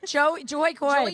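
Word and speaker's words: Jo Koy: I like No one can say his name. Joey Joy Koy. People call him. Um, that's cuz his name is together. It's Jo O K O Y. So you have to say Joy. Um, but then you guys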